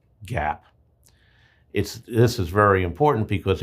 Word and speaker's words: GAAP: By law, financial information has to be presented in accordance with generally accepted accounting principles, GAAP, pronounced GAAP.